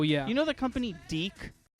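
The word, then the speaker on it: DiC: in cereals oh yeah you know the company deke it's about like d-i-c but it's pronounced d oh yes and they make children's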